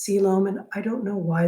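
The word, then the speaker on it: coelom: true body cavity or a true siloam and yes that's pronounced siloam and i don't know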